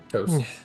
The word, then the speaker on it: Taos: you said it right. Toast. Yeah, it's always toast. Toast. Yeah. Yep. You could say it either way, we know.